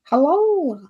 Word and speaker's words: halal: A Kentucky Fried Chicken that was now uh only selling halal halal chicken.